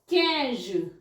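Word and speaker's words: quinze: मुझे बताओ ठीक है नेक्स्ट आ जाता है कज कज क्य आई एन जड कज इट्स 15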